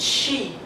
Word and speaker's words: she: is is c not she so C and she remember okay next sound z z so it's